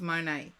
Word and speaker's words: Monet: favorite artist was um Monet not a therapist that's okay someone's favorite artist is mon Monet wherever you're from in the world it's pronounced different Dory whatever you are next you love Monae I feel you have